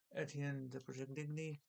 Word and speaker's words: Etienne de Perigny: Here's Dead Kingdom from Red 5, issue #4 of 5, the penultimate issue by Etienne de Perigny. It's pronounced it French-wise, if you know how that word is pronounced.